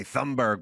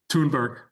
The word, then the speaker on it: Thunberg: How do we say her name? Because I hear the we say Thunberg, but then I hear Tunberg or Tunberg. Tunberg. All right.